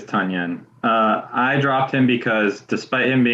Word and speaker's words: Tonyan: Why did you drop Tonyan, or Tunyon, I think is the proper way to pronounce it? Yeah, it is Tunyon.